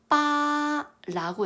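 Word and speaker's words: 八: 팔로 넘어가 볼게요 여러분 팔을 중국어로는 어떻게 읽었냐 빠라고 읽어요 근데이 밑에 있는이 파는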